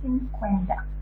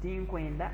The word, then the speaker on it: tinkwenda: Tinkwenda, I don't want. How you pronounce this word in the right way? It's tinkwenda or tinkwenda. Like that letter D doesn't sound out when you're pronouncing it.